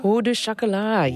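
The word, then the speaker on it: pain au chocolat: Pau du chocolat? Pau du chocolat, yes.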